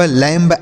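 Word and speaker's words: lamb: अगर यह चीज़ आप नहीं ध्यान किए होंगे तो आप गलत तरीके से पढ़ रहे होंगे, गलत उच्चारण कर रहे होंगे, comb bomb thumb dumb लैम्ब ऐसे पढ़ रहे होंगे।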